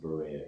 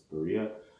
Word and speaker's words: Berea: It's not pronounced Berea here, it's Berea, along with a handful of other unincorporated towns and incorporated ones.